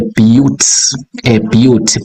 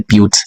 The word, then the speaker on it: but: When you see a bute, B-U-T, we pronounce this as a bute, right?